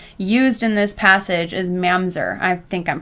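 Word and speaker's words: ממזר: And so I followed that little note, and it led me to the actual Hebrew word used in this passage is mamzer. I think I'm pronouncing it right.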